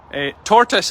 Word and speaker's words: tortoise: can catch up afterwards tortoise is the pronunciation no carl it's not it's tortoise tortoise not not toatus totus it's see see it